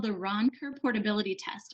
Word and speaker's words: Roncker: If you're interested in the law that supports that, it's called the Ronker Portability Test. I'll spell it Roncker, Ronker Portability.